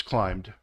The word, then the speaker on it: climbed: and so we have climb becomes climbed so it makes a the D sound and massage becomes massaged